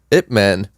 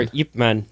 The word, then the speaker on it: Ip Man: Anthony, and we saw Ip Man. Ip Man. Ip Man. Or Yip Man. Like, there's sometimes they spell it with a Y in front of it, but it doesn't matter.